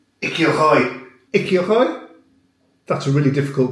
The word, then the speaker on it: écureuil: Écoile? Écoile? Écoile. Oh la vache. Non. Écureuil.